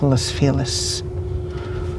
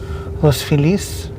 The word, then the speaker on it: Los Feliz: the eastern end of Los Feliz. Would you pronounce it as Spanish pronunciation, Los Feliz? If you were here earlier, would stick to English pronounce. English hate like doing stress on last syllable.